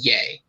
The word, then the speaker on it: Ye: it was yeah but when it's just y e it's pronounced yay i could i could see